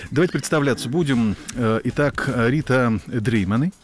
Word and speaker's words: Дрейманы: Итак, Рита Дрейманы. Правильно так произносится фамилия? Можно и так. Добрый вечер. Добрый. А как нужно? Дрейманы. Да, Дрейманы. Хорошо, красиво.